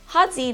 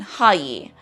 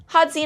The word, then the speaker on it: Håyi: So to do so, you would say, Hadzi na'anmu. Hadzi na'anmu. The Y in the Chamorro alphabet is pronounced more like a Z or like a DZ sound, so Z, rather than Hayi.